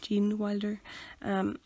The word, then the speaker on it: Gene Wilder: do you say his name Jeanne Jeanne Wilder Gene Wilder and he is just class yeah the tunnel